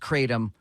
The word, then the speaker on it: Kratom: but suffice to say uh the word is pronounced Kratom for the powder that comes from the plant